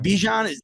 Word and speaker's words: Bijan: a sudden I've been hearing uh is it Bijan that's how you pronounce it yeah yeah excuse me yeah his